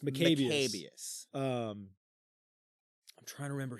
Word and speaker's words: Maccabeus: it's pronounced Maccabeus.